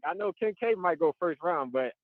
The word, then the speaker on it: Kincaid: Kittle or Kelsey, and I can't bank gotta pronounce his name. Kincaid? Yeah, Kincaid.